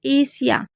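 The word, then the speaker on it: Asia: ए सिया का मतलब होता है जैसे एशिया। तो एशिया में आप देख रहे हैं ए को ए पढ़ा और एस आई ए को सिया पढ़ा। यानी कि एशिया।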